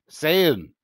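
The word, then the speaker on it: Saiyan: see oh how do how do you say that Sayan Sayan s a i y a n what Sayan yeah I'm just like I'm just saying yeah correct yeah that is the um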